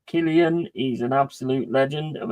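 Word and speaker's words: Cillian: Alien, Jaws, you know, Selia Murphy is pronounced as Killian. He's an absolute legend of an actor. Yeah. Yeah, Killian Murphy.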